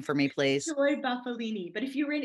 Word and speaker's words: Bufalini: I feel a little better then because I always want to say Bufalini. That's actually the correct way to say it, but it's been Americanized. So what can I say?